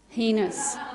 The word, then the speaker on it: heinous: Do you pronounce it heinous or heinous? Heinous.